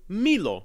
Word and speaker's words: milo: We also see this with milo, pronounced mi-lo.